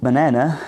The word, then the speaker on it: banana: For example, the word banana has a main stress on the second syllable, and the other 2 syllables are schwa sounds.